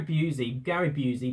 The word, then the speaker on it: Busey: And Gary Busey, that's how you pronounce his name.